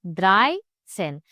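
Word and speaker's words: dreizehn: Stress is on the first part. For example, dry sen. Dry पे जोर डाल के बोलना है. Dry sen. Fear sen. Fünf sen. No pressure on sen.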